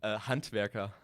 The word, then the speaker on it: Handwerker: Handwerker.